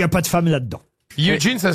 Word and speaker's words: Eugene: C'est vrai qu'on le lit Eugène, Oui. et qu'on devrait le dire quand on le lit dans la presse, mais là, évidemment, c'était le petit piège de la question, on devrait le lire Eugene.